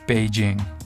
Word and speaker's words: Beijing: ing is actually pronounced Beijing it's using an old system to romanize Chinese now we use pinyin